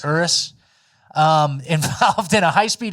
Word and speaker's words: Urus: driver of a Lamborghini Urus uh invol is that how you pronounce it Urus I think it's Uris Uris um involved in a